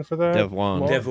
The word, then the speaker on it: Devuan: Is that the correct pronunciation for that? Devwan. Mark? Dev one.